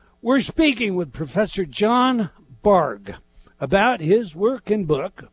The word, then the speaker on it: Bargh: So we're speaking with Professor John Bargh about his work and book, Before You Know It, The Unconscious Reasons Why We Do What We Do. Professor, is it Bargh or Bargh? It's Bargh like the boat, but I don't really